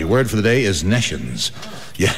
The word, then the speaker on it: nescience: And, oh, yes, the word for the day is nescience. Yeah, it's spelled N-E-S-C-I-E-N-C-E, and it's pronounced nescience, which is a kind of a glow, isn't it?